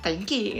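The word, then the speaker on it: 天気: ini tuh bentukan ini dibacanya tenki gitu, kanji ini teng sama ki tenki gitu, kayak gitu.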